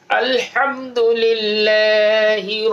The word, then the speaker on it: আলহামদুলিল্লাহ: না উচ্চারণ করব আলহাম আলহামদুলিল্লাহি রব্বিল আলামিন হায়ের জায়গায় হা উচ্চারণ হলে অর্থটা চেঞ্জ হয়ে যাবে কুফুরি অর্থ হয়ে যাবে আল্লাহ তাআলা আমাদেরকে বুঝার